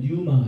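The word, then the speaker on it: πνεῦμα: 그래서 이제 혼에 해당되는게 푸식케고 영에 해당되는 거가 분유마 또는이 피자가 묵은 발음이기 때문에 뉴마 이렇게 발음을 합니다.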